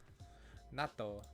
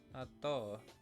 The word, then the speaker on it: 納豆: If they have like a double letter, you pronounce it as if there was a silent letter or something like that.